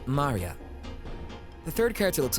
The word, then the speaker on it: Maria: Of course, is pronounced Maria.